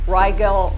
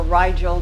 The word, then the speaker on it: Rigel: Nordics from Rigel or Rigel, depending upon which source of pronunciation you're reading. Here's Rigel.